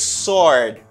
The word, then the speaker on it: sword: word this word is sword sword of course it's sword why do i pronounce it as sword it's because this letter isn't pronounced i don't pronounce w you know this is